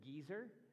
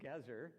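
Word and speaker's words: Gezer: in in English uh some of you may when you read your Bible pronounce it gizer but it's gazer even though it is old it's a gazer all right um and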